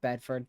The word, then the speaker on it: Bedford: Michelle uh Buford or Bedford Buford is how we say it here Williams I guess it's